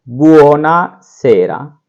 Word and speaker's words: buonasera: ये मेन चीजें याद रखिए, सुबह की होगी बुongiorno, शाम को होगी buonasera, buonasera, buonasera, buonasera। इस तरीके से इसका उच्चारण करेंगे।